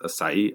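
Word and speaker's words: açaí: berries that's that's spelled a c ai it's pronounced asai I think I pronounced that Okay.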